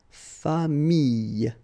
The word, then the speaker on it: famille: So with this I vowel, then you get the Y, okay, but then you will pronounce this I, so you get famille, okay, famille.